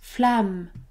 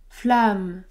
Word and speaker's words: flamme: nasale et bien non à chaque fois que vous aurez la combinaison a M m vous ne prononcerez pas de voyelle nasale ce mot se prononce flamme flamme ce mot-là que vous